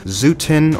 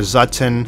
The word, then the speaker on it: Zutton: one a new hope zuten or zutton snaggletooth whatever you want to call the character and however you prefer to pronounce it all of these